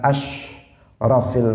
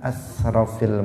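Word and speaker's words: أشرف: Dia shinnya diganti sin. Harusnya dia mengatakan asyrafil mursalin, dia mengatakan asrafil mursalin.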